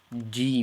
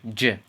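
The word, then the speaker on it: جيم: the J's like Jim Jim try not to say G and E because the proper way to say this again is Jim Jim Jim and when we say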